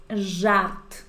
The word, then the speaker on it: żart: broma en general, es żart. Entonces, repetimos żart, żart. Si no sabes que eso se pronuncia ż, te invito a toda la playlist de pronunciación de desafío que hicimos en Instagram.